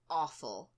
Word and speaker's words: offal: The next one on the list is awful. Awful. And it's spelled OFFAL.